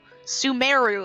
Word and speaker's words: Sumeru: That is not the way that we've been pronouncing Sumeru. Sumeru, apparently.